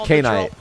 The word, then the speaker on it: Knight: Yeah, it's K-Knight. They can pronounce it however they want.